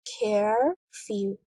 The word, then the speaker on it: curfew: In the word curfew, there are two syllables, care-few. The stress is on the first syllable, care.